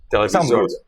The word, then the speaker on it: Televizornia: Hey, thanks for the interview Televizorna. That's how you say it. Televizorna.